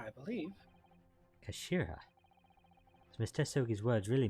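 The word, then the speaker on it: 頭: end of the hilt it is written as head in japanese but it's pronounced kashira i believe kashira does mr sogi's words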